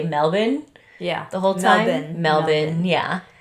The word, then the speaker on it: Melbourne: Australians don't really pronounce the R, so you'll be hearing me say Melbourne the whole time. Melbourne, yeah. I'll be saying Melbourne.